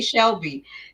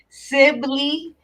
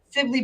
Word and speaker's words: Sibley: She said it right because I usually say Shelby. Sibley, Sibley Boulevard is be popping.